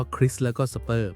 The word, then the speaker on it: CRISPR: ชื่อ ว่า นะ ครับ อ่าน ว่า คริส แล้ว ก็ สเปอร์ มัน เหมือน กรรไกร จิ๋ว